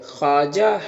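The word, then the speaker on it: خواجہ: ख्वाजा में यह वाव साइलेंट होता है। वाव नहीं पढ़ते हैं। ख्वाजा हसन निजामी।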